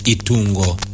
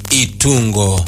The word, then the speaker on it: Itungo: My favorite girl's name is Itungo. Eh? Itungo. Spell it.